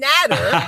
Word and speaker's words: Nader: But this week, I have none other than Nader, that rhymes with Ladder, Al-Naji.